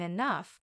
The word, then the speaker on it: enough: day I'll even understand why G can sound like f in enough maybe one day I'll